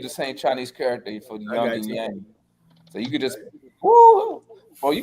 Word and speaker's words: Young: Actually, actually you pronounce his name Young.